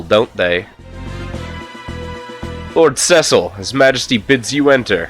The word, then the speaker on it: Cecil: you wish oh yea they pronounce it sessile don't they Lord Cecil His Majesty bids you